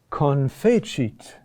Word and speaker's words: confecit: But also confecit. Huh? The accent is still on the next to last syllable.